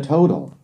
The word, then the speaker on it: total: 뒤에 있는 T를 약하게 해서 D로 발음하시면 됩니다.